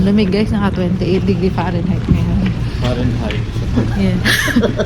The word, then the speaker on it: Fahrenheit: Ang lamig guys, naka 28 degree Fahrenheit ngayon. Fahrenheit. Yeah. Sabi ko dati Fahrenheit. Akala ko silent T guys.